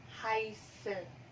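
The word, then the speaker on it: heiße: apa harus Eh iya dituliskan heize tapi diucapkan haise dituliskan Hei dicapkan tapi ih haise Melvin hai oke lu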